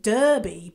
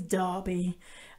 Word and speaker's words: Derby: of derby if you're a north american you'd pronounce it derby but you're wrong it's derby uh spelt d-e-r-b-y uh yeah i know you